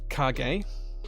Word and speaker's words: Kage: Timothy's here as well it's it's pronounced cargay kage um okay I'll I'll